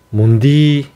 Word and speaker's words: 문디: 경상도 사투리로는 문둥이를 문디라고 합니다. 뒷자를 뒤로 쭉 길게 좀 발음을 빼야 되는데 문디 예 이렇게 발음을 합니다.